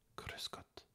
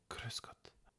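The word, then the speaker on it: Grüß Gott: cruscotte ou bien cruscotte ça dépend comment on prononce le r en Allemagne tu prononces le r comme un r en français ou bien tu le roules comme par exemple en Espagne cruscot ou bien cruscotte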